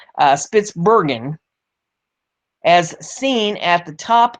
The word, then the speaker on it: Spitsbergen: or on the Norwegian island of Spitzenberg, or I didn't pronounce that right, Spitsbergen, as seen at the top of this story.